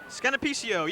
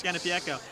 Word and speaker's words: Scanapiecco: Scanapicio, yes, of course it was. Scanapiecco. Scanapiecco. See that we transposed that I. It's Scanapiecco.